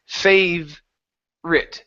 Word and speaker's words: favorite: one is favorite okay so in the word favorite that Oh are that always not pronounced so instead of saying fav or r it it's fav r it favorite favorite there you